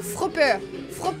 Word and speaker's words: FR Hopper: Et justement, FR Hopper qui se dit, ça se prononce d'un coup, Fropper.